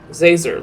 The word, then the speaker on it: Zazer: doing it on purpose is Professor zazer like laser with Z how hard is that